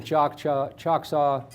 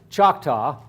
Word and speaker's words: Choctaw: He moved, Tecumseh went down and contacted the Cherokee and the Choctaw, that's not how it's said, Choctaw and the Chickasaw.